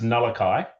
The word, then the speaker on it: Nullaki: It's actually pronounced Nullaki.